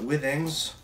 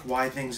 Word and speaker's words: Withings: I really call it Withings I think why things is the way that it's supposed to be pronounced because this company creates